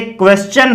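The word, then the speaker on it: question: तो यदि TION से जस्ट पहले S साउंड आए या S आए, अर्थात आपकी स्पेलिंग में S प्लस TION हो, तो इसका चे बनेगा। जैसे क्वेश्चन है, सजेशन है, ये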